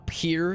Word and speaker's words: Pierre: for now I misclicked there's a Pier South Dakota not Pierre Pier oh my God he's